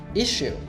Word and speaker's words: issue: There's violence, yes, in the relationship, and that's why we came in, and it's an issue, but... By the way, can you correctly pronounce this word that Celeste just said?